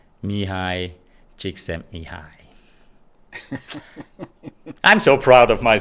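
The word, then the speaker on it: Mihaly Csikszentmihalyi: It's Mihai Csikszentmihalyi. All right, so is it A, B, C, or the person with an unpronounceable name?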